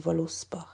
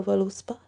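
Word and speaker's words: Völuspá: as a v however i always learnt it as the v was pronounced like a w so it would be to me even though it says voluspa but that's a very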